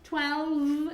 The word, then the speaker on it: twelve: people at home okay twelve it's pronounced with that V sound you have to move your vocal cords okay the position of